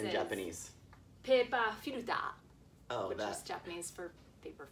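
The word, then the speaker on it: ペーパーフィルター: Pepa Filuta is actually the correct pronunciation of paper filter in Japanese.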